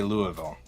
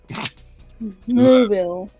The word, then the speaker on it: Louisville: He goes, the way you pronounce Louisville is put a bunch of marbles in your mouth and then say Louisville. Louisville.